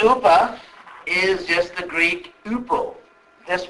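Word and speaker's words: ὑπό: Upa, in Sanskrit, is, the Greek H is silent, like honor or hour. Like what hour, how many hours, and so on. So, Sanskrit upa is just the Greek upo.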